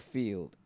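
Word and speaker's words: Feeld: Yeah, I think it's called Field. It's spelled F-E-E-L-D.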